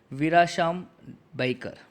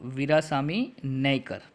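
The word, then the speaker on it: Veerasami Naicker: It was first ascertained that this was not the work of Khadar main साहब और वीराशाम बैकर। वो क्या बता रहे? Sorry, I pronounced it wrong, वीरासामी नैकर।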